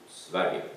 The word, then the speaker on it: Sverige: And we have chosen to call it Welcome to Sweden, or Sverige as it is pronounced in Swedish.